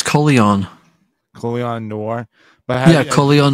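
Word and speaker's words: Colion Noir: Colin Noir brought this up. Did you hear about the kid that protected his family with the pistol? I actually heard his name pronounced. Apparently, it's Coleon.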